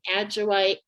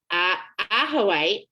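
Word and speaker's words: ajoite: We're doing citrine and pyrite and adjoite. I'm saying it wrong. Ahoite. There you go.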